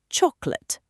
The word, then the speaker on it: chocolate: Chocolate. Chocolate. Perfect. Just 2 small parts, not 3. So I don't say every syllable. Exactly. Native speakers reduce it naturally.